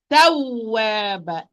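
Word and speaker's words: تَوَّابًا: That I'm going to give a push of the sound when I am pronouncing the waw with shadda. So I'm going to say tawwaba, taw.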